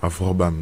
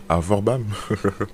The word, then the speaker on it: Avorbam: Avrobam. Non, c'est Avorbam.